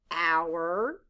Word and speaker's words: our: loud o u r the letters o u stand for the ow sound blend with me ow er now skye write the word